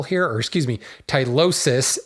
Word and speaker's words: tylosis: called on my pronunciation tylosis is the plural here or excuse me tylosis s i is the